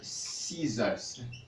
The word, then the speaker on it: scissors: E a pronúncia desta palavra, por exemplo, é scissors. Scissors. E a pronúncia desta palavra, por exemplo, é dessert.